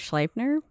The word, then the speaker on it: Sleipnir: I'm going to go with Sleipnir because it's E-I, and in German you would pronounce the I, which he rode with a raven perched on each of his shoulders.